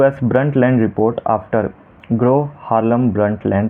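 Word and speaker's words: Brundtland: उस रिपोर्ट का नाम है द ब्रंटलैंड report B आर यू एन डी टी एल ए एन डी। यहां पे डी साइलेंट है।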